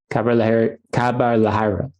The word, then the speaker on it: Khabar Lahariya: Khabar Lahariya. Did I say it right? Khabar Lahariya. Khabar Lahariya. Not even close. It's a tough one. You have to roll your R's, Rob, I think.